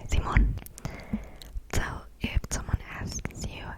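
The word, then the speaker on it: simón: people might answer with zimon zimon yes zimon s i m o n n with an accent on the o like the name Simon except it's in Spanish and you say zimon so if someone asks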